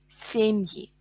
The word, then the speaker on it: семьи: Семьи. Семьи. Семья. Я is stressed in singular. Семьи. Е is stressed in plural.